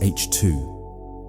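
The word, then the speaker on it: H II: The Milky Way contains vast regions called H2 regions, pronounced H2, where ultraviolet radiation from hot young stars ionizes surrounding hydrogen gas.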